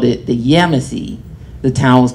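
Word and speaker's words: Yamasee: we called it the yemesi the town was called yamiche and the yemeni indians um the native pronunciation is yamasi and that tribe got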